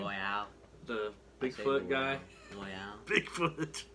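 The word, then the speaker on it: Loial: Loyal.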